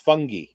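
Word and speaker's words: Fotheringay: name is spelled fathering gay but it's apparently pronounced fungi no really okay i went right over my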